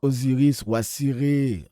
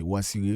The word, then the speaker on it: Osiris: Elle a été arbitraire donc on dit Osiris mais personne s'appelle Osiris en Égypte euh en tout cas ancienne. C'est Wasiré.